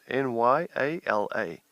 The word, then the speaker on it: Nyala: And it's like, no, just remember, it's easy to spell. If you're American, it's easy. It's New York and Los Angeles. So it's Nyala.